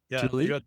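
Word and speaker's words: Tule: Tul Tuli.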